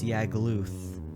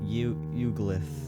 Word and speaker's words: Yagluth: Also, maybe some additions to the planes, because right now the boss Yagluth, which I pronounce as Uglith, because I'm stupid.